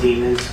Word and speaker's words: Demons: The username was j.kingrn, and the text was Jamell Demons, go lay down, I love you. It rhymes with lemons.